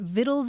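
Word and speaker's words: victuals: But the thing is that the old pronunciation was already so wellestablished that people kept pronouncing it viddles.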